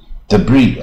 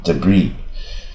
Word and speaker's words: debris: 湾事实上就独立嘛。debris 啊，这 s 也不发音，debris 就是碎片啊、残骸